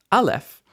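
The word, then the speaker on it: אלף: call it Alf is Alf Alf is uh a silent letter in standard pronunciation and so it doesn't make any sound at all but isn't it beautiful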